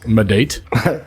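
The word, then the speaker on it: maedate: It's Madate. Madate. Madate? Yeah. Madate. Would you be my date? Oh, he's got a Maidate.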